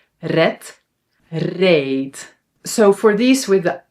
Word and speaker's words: reed: man maan, ram raam and then e ee pet beet red reed When a word ends on a d, we pronounce it as a t by the way. red reed.